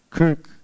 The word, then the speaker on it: Krk: K R K, Kirk. Kirk. Okay.